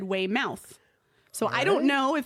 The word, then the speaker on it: Weymouth: So I was going to say Weymouth and then I looked on Google and I did pronunciation and it said way mouth.